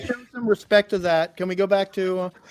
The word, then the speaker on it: Toth: it is someone like Alex Toth, or sometimes pronounced Toth, T-O-T-H, I don't emotionally trust minimalism.